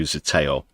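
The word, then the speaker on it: Zeteo: bi-election, Count Binface himself joins me here on Zateo UK. Welcome. And there's a link to Zateo if you uh want to go and subscribe,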